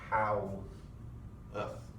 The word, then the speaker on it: Haworth: Haworth is not a word that exactly is pronounced the way that it looks. It's more like how-earth.